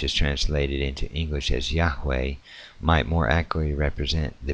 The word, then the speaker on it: Yahweh: In order to preserve the approximate original Hebrew of pronunciation, however, English spelling uses the initial Y, and for the third consonant uses W, a letter unknown in Latin, thus producing the form Yahweh.